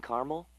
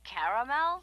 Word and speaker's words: caramel: I'd like it in caramel. Oh, the caramel? Yeah, that's what I said, Tina. Actually, you said caramel when it's pronounced caramel.